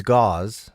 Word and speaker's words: gauze: It's gauze, so it's spelled G-U-A-Z-E, but, you know, my brain saw it as G-A-Z-E, but I like where Scraw went.